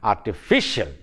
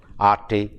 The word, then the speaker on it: artificial: The stress falls on the syllable preceding the suffix, and then the word is pronounced as artificial, artificial, artificial.